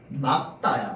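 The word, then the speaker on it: 맑다: 날씨가 정말 막다야. 막다. 왜? 닭을 닭으로 발음하면 막도 막으로 발음해야지. 맞죠? 날씨가 막다야. 맞죠? 닭으로 발음하기 때문에 얘도 막이야. 말이 아니야. 맞죠? 날씨가 막다야. 그래서 여러분들 기상캐스터나 저기 아나운성들 다 막다라고 얘기합니다. 알겠죠?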